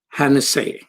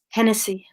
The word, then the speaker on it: Hennessy: peace activists was Martha Hanna say welcome Martha thank you so much am i pronouncing your last name correctly Hennessy Hennessy okay Tennessee Hennessy okay